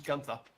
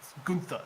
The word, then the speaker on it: Gunther: which I believe you've already given to Gunther. I'm saying his name wrong. It's Gunther, isn't it?